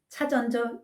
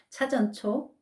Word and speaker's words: 차전초: 포경용 6g, 인진호 8g, 차전조 6g. 차전초입니다. 자꾸 차전조라고 발음이 되네요. 차전초 6g을 혼합하게 되면 전부 20g이 되죠.